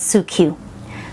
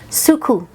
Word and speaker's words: Suqqu: this is the suku liquid foundation and it's pronounced sorry i said su cu that's not how you pronounce it she corrected me it's pronounced suku like k-u suku liquid foundation and this is